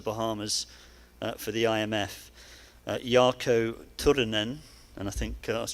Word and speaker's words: Turunen: for the IMF, Jarkko Turunen. And I think I was trying to roll the R's there. I asked Jarkko how you pronounce his name, but you need to roll the R's.